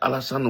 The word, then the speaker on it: Alassane: Bon, il a prononcé ça dans son accent anglophone, anglais, américain. C'était très difficile que pour lui de dire Alassane Ouattara. Il dit Allah, the son, Ouattara.